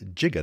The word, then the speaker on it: giga: By the way, that prefix giga can be pronounced jiga. That's sounds like it's the proper ancient Greek pronunciation.